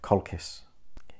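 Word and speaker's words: Colchis: it can be found in the land of kolkis yes that is how it's pronounced how will he get there he will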